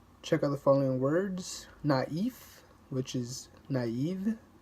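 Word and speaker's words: naïf: Le trema, the accent mark indicates that back-to-back vowels are pronounced separately from each other. Check out the following words. Naif, which is naive, naif, or Noel, which is Christmas.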